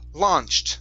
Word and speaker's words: launched: very nice okay uh this word here instead of launched okay it's la launched the au will be an ah sound launched okay very good